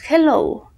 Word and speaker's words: hello: jaray hello ok entonces ya sabemos que la h tiene ese sonido de j en español no tiene sonido pero inglés tiene el socio de la